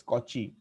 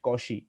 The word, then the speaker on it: Cauchy: cauchy's mean value theorem it is not a cauchy some although some people like to call it as kochi even i do not know what is its actual pronunciation but my teacher used to say it causey so therefore i'm just